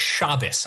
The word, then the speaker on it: Shabbos: Also, it's pronounced Shabbos.